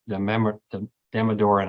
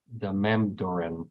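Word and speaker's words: Damodaran: It was the Damadoran, as how I say his name, but it's the Mamdoran. He says it differently.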